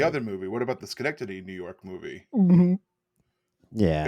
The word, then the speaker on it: Schenectady: Is that how It's you pronounce that? Schenectady, New York. It's Schenectady.